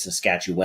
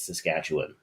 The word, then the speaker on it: Saskatchewan: I mean, they they they always hit the wrong syllable. Most of them it's Saskatchewan. And it's like, no, no, no, no. It's Saskatchewan.